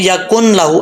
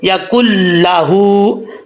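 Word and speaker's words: يَكُن لَّهُ: اکثر لوگ پڑھتے ہیں یا کن لاہو، ایسا نہیں پڑھنا، یا کل لاہو.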